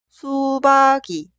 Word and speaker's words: 수박이: Por eso se escribe así, pero se pronuncia 수박이, 수박이.